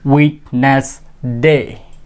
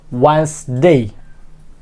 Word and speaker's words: Wednesday: Specially when I did not know the right pronunciation of this word at the time I pronounce it Wednesday, but it will be Wednesday.